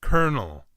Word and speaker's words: colonel: English speakers know that this 16th century word which is derived from middle french is pronounced colonel what however those learning English as a Second Language we can feast by the first Oh son like an e the L that sounds like an R and the second Oh